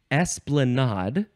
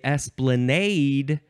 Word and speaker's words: esplanade: the next word is esplanad or ES uh you can emphasize the first syllable or the last syllable or you can say Esplanade and emphasize either syllable uh I've always wondered